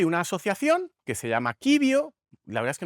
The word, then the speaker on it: Civio: asociación que se llama quibio, la verdad es que nunca sé cómo se pronuncia, si quibio o cibio, pero bueno, yo entiendo que será kibio porque es en latín que eh detecta muy